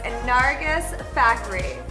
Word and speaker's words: Nargis Fakhri: Her name is Nargis Fakhri.